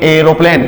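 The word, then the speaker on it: aeroplane: इसमें आर आ गया तो क्या बोलेंगे? एरोप्लेन।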